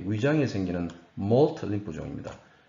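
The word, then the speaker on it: MALT: 몰트 림프종, 한국말로 말트라고 쓰는데 몰트가 더 올바른 발음이죠.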